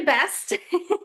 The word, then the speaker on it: Best: my last name's actually Best.